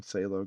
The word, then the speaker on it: phthalo: For the background here, I'm starting with some white and some phthalo green. Phthalo is actually spelled with a PH. It's kind of weird.